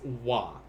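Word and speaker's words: は: a which is hot but in japanese this ha will always be pronounced as wah instead so imawa rokujides why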